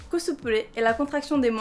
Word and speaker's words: cosplay: ni solitaire ni steinès le cosplay prononce à la japonaise cosplay et la contraction des